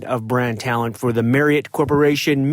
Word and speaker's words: Marriott: First, JLee out of Washington, D.C., the metro area, and also Vice President of Brand Talent for the Marriott Corporation. Marriott rhymes with chariot.